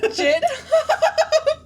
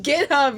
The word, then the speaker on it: GitHub: Jitub. That's going to be the title. Jit hub. Is it GitHub? It's freaking GitHub, you stupid.